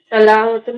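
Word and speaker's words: علامة: से उसकी स्टार्ट होता प्रोनाउंसिएशन सही नहीं है ना, अलामातुल मुदारे कैसे बोल सकते हैं आप? अलामतुल होना चाहिए ना।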